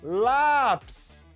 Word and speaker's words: lápis: Vamos para a ideia do lápis de novo? Ó, lápis, lápis, terminou com is. A sílaba forte é a penúltima, né?